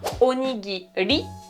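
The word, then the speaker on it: おにぎり: ne te comprendront pas, c'est bien onigiri, arigato, une espèce de R tout petit peu roulé. Si tu n'y arrives pas, il vaut mieux le prononcer comme un L.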